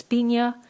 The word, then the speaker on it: piña: There were also handkerchiefs, some of piña, some of white China silk, light floss for softness. It's generally pronounced Piña, according to the American lady.